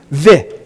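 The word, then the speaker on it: ו: So this, you would pronounce the vav, how? Vi. You pronounce the resh, ri.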